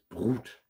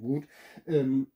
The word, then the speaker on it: Brut: Und zwar ist es dieses Aftershave, ist es Brut. Ich weiß gar nicht, ich glaube, das spricht man gar nicht Brut aus. Das T lässt man, glaube ich, weg. Bru heißt das denn oder so.